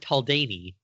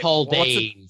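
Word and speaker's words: Taldain: So I noticed that Eric just said Taldani, which technically is not a thing because it's just the Taldane system, which is stupid.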